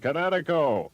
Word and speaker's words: Kinetico: You should have remembered kinetic as in kinetic energy with an O on the end. Kinetico.